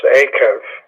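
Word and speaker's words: עָקֵב: And that's the syllable that you're going to stress, akev. You're stressing the first syllable with that guttural, which I just find so interesting.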